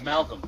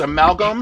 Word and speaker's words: amalgam: I'm in the chat like I don't understand the word coming out of your mouth amalgam but it's amalgam short for amalgamation and I'm like we can